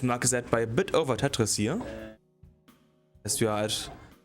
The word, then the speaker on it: Tetris: No, we do pronounce the S. Oh, Tetris.